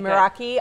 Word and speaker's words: Meraki: it is now ok Meraki I'm rainbow this looks so good marie saying it right yes ok Meraki on rainbow Meraki grill